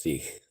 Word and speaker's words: Sikh: And the Sikh Empire is pronounced Sikh.